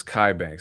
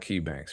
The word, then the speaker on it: Kai Banks: It's Kai Banks. It's not Key Banks, right?